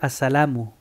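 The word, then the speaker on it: السلام: Sí, cuando lo miras escrito va a tener el doma de asalamu, pero tú dices asalam para parar en el dicho asalam.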